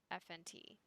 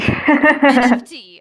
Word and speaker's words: NFT: a FNT? Wait, is that what it's Yeah. called? So FNT. Okay. I'm like, am I saying it right? NFT. NFT. Oh my god, I was saying it So wrong.